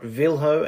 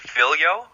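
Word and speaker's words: Viljo: I'm pronouncing this right vho and Elsa is that right it's actually vilo and Elsa um yeah the the Y is the J is a y sound in Finland my dad's Finnish uh it's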